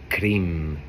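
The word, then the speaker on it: krim: deities the Kali bija is cream spelled k-r-i-m but it sounds like cream cream is a sound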